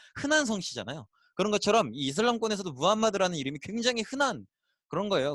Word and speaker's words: 무함마드: 있었는데 어 이슬람교를 다시 이렇게 바라보면 기본적으로 창시자는 무함마드는 사람이고요 어 보통 이제 옛날 좀 오래된 책들에는 마호메트 쓰여져 있기도 해요 근데 마가 좀 더 현지에